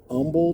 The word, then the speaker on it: Humble: I'm at I am in Umble Texas that's right it's spelled humble the natives we call it it's spelled humble we call it humble cuz it's Texas and